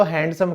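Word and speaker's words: handsome: दोस्तों आज के बाद ये जो डी शब्द है ये बिल्कुल मत कहिएगा, क्योंकि ये क्या होता है? हैंडसम। हाँ जी, क्योंकि जो ड है डी हमारा साइलेंट है, तो आप इसको ऐसे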